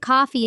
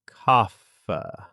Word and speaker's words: coffee: Many people drink coffee in the morning. Coffee? Kaffa. Almost. Say it like this. Coffee. Coffee.